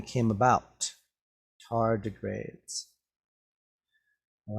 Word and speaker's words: tardigrades: we read this word we can separate the words into syllables so we get tar d grades tardigrades what are tardigrades well